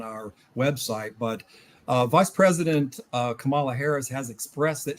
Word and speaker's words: Kamala: But Vice President Kamala Harris has expressed that she prefers to be called Kamala.